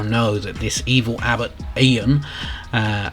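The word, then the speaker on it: Eógan: that this evil abbott ian uh i think that's how you pronounce it it's e-a-g-o-n and when you hear king flynn pronounce it he says ian um he seems to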